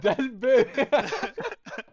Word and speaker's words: Dalboe: Dalboe. Yeah, Oh, O that's in German is Ö. So It's I would say the E is silent, so you can just say Dalboe.